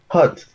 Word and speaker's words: hot: Y si se fijan, la pronunciación también, claro, no es hot. Claro, no es hot, ¿cierto? Es, ¿cierto? Con esta H aspirada, ¿cierto? Hot. Y uno abre más la boca y esa O es una mezcla entre O y A.